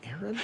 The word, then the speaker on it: Aaron: first time I said a Aon because it's pronounced Aaron you done messed up a Aon a Aon